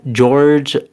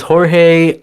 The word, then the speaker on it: Jorge: We got George Priscino as Carlos, and I think now I think that's Jorge. I'm so I sorry, think that's how you Jorge. You're right. pronounce It's Jorge Priscino as Carlos, and I'll just bring here